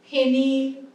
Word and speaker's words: ফেনিল: অয়ের পরে যখন হর্ষই থাকছিল ওকার বলছিলাম, এর পরে যখন হর্ষই থাকছে বা হর্ষও থাকছে, মানে হর্ষইকার বা হর্ষউকার থাকছে, তখন এ উচ্চারণ করছি, রেণু, ধেনু, ফেনিল, ঠিক আছে?